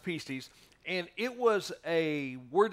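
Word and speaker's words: pistis: it's the word pises it looks like PS pistus um but it's pronounced pises and it was a word that would be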